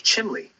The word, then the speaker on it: chimney: them in northeastern PA you might hear chimney pronounced more like chimley with that l sound sneaking in there that's really that's true